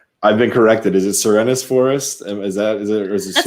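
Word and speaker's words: Serenes Forest: Is it Serenus Forest? Is it That's how I pronounce it. Serenus Forest. How do I I pronounce it? Serene Forest. Like serene, like it's serene.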